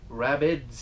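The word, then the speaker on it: rabbet: I'm going with all dado stack for the rabbits. Gotta say it right. You call it a rabbit. Holy cow. God forbid it sounds like you said the word rabbit, like the bunny-eared rabbit.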